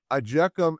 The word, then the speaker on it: IJKLM: Ajekum is spelled IJKLM.